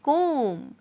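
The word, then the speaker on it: comb: कंघी करना कहलाता है कॉम ठीक है मतलब की जो बी शब्द है वो छुपा हुआ है वो साइलेंट शब्द है तो बी नहीं पढ़ा जाएगा बस आप बोले कॉम नोट कब ठीक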